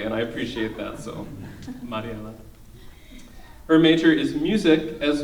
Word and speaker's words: Mariela: She knows that I can roll my R's, and she'll never let me not say her name correctly, and I appreciate that, so Mariela.